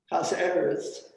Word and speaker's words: Casarez: our project holmes gloria casarez casa eris is that how you pronounce it nick i think it's casarez and cyrus gloria sarah's